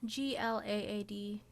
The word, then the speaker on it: GLAAD: Do you pronounce this GLAAD? GLAAD.